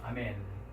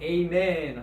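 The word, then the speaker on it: ἀμήν: 한번 발음을 해볼까요? 네, 아멘 하고 있습니다. 아멘. 우리가 보통 영어로는 에이멘 하죠. 그죠? 네, 한국 사람들은 아멘 이렇게 합니다.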